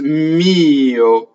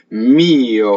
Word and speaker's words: mio: Next word is mio. So on the word for my, sometimes the semivowel is pronounced.